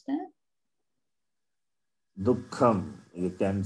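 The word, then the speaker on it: दुःखम्: Dukkham. You can say Dukkham. The visarga also takes the sound of kakara.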